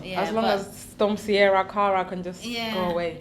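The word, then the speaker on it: Ciara: It's Sierra, not Cara.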